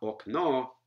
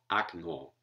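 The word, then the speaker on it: окно: So if you take the stress away from okna from the first syllable, it becomes A, as in this form of the word window, which is the nominative singular, akno. Not okno, akno.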